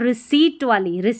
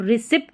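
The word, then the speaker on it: receipt: और रिसिप्ट नहीं पढ़ना है, रिसीट पढ़ना है.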